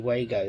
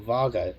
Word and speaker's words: Wago: straight into my CPC Wago there, or Vargo, depending on how you pronounce it and where you're from.